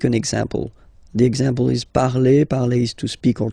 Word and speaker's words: parle: parle again, so remember, and after that you just put the ending e, and then the way to pronounce it is je parle, parle. So remember, we put it, okay, but then we don't really pronounce it.